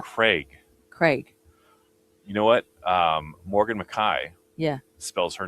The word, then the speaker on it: Mackay: Morgan Mackay. Yeah. Spells her name, or when you look at it on paper, it's Morgan McKay. McKay. But it's how her family says it is Mackay.